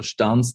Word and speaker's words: Stans: So Stans, that's pronounced correctly.